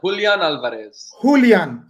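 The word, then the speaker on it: Julián Álvarez: Julian Alvarez.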